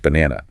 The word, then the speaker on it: banana: A non-native speaker might give equal weight to all three A sounds. Bot, N-A-ake. Right, pronouncing the letter A as they learned it. But a native speaker reduces the unstressed ones. The stress is on the middle syllable, B-N-A-N-A. The first and third syllables are reduced to schwa.